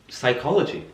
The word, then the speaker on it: psychology: well yes sir but you didn't pronounce the P it is silent silent yes indeed won't